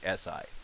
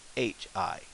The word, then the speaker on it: し: at the pattern and you followed the English romanization, you would think it would be si, but it's not. What it's going to be is shi. So C does not exist in the Japanese pronunciation. So what it pronounces is she. That's she as in sheep or pushy.